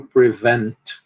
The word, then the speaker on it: prevent: Então, prevent. Por que a gente não aspira esse p aqui? Porque a sílaba tônica é a segunda.